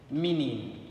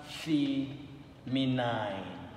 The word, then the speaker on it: feminine: Same thing goes with feminine, not feminine. Not feminine. There is no diphthong here.